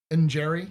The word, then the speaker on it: Njeri: Njeri, yeah, that's how you spell it. It's like N- or N' Jeri.